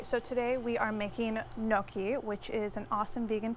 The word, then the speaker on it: gnocchi: They pronounce how how they pronounce Noki, but that could be wrong. So, I always pronounce it like or you could do the hard G in the front where it's like ginoki.